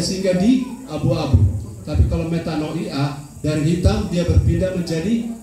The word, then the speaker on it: Metanoia: Saya bergairah untuk berbagi dengan saudara-saudara karena saya lihat gereja ini gereja metanoia, begitu bacanya dalam ejaan asli. Metanoia.